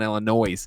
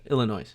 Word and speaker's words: Illinois: I don't believe you pronounced the S. That's true. I know. Okay. In what word? Illinois. Illinois. Oh, I said Illinois.